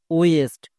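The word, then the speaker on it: west: ওয়েস্ট নাকি ওয়াস্ট? কোনটা? ওয়েস্ট। কারণ এর ঠিক পরে দেখো আই আছে, তার মানে ডব্লু এর জন্য ওয়ে হবে। এবার আইটাকে কি করব? সাইলেন্ট, উচ্চারণ করার দরকার নেই। এসটি, এসটি হচ্ছে কনসোনেন্ট ব্লেন্ডিং ওয়ার্ড, এর জন্য হয় দন্ত সয়ে টো। তাহলে পুরোটা কি দাঁড়ালো? ওয়েস্ট।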